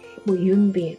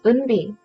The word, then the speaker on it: 은비: 물론 이렇게 보면 처음 보는 이름이기 때문에 미국 사람들 입장에서는 쉽게 읽게 되는 이름은 아니기 때문에 처음에는 윤비, 은바이 하지만 내가 은비 내 이름 그냥 한번 처음에 고쳐만 주면 되거든요.